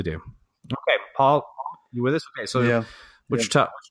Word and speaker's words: Wichita: Paul okay so yeah Wichita not three syllables yeah all right I'll